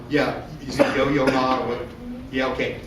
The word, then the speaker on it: Yo-Yo Ma: There's an example on how the cellist Yo-Ma, is that how you say his name? Yeah, is it Yo-Yo Ma or what?